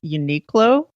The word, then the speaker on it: Uniqlo: fan of a store and I hope I'm pronouncing this right I even looked it up it's called Uniqlo know that dough you and I Q L